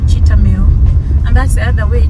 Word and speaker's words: Cheetham Hill: But where I am going, it's called Cheetahmill, and that's the other way. Cheetahmill is written Cheetham Hill. Cheetham Hill. They just pronounce it Cheetahmill. They don't say Cheetahmill, they don't say Cheetham Hill, they say Cheetahmill.